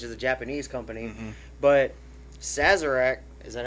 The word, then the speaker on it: Sazerac: takara holdings which is a japanese company but sazerac is that how you say it it is